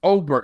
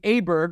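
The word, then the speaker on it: Åberg: told Trev emman emman this past weekend it's oberg I think he's trolling us he I think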